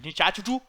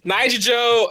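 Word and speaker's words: Nichijou: Teradora and Nichachuchu? It's Nijijo and Toradora.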